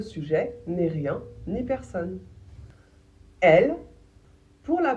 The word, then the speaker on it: elle: Elle pour la prononciation. On prononce le premier e les deux L comme s'il n'y en avait qu'un seul la plupart du temps.